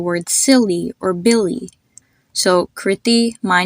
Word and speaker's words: Kriti: The first I was short and the second I was long? You can think of it exactly the same way you would pronounce the name Christy, or you would say the word silly or Billy.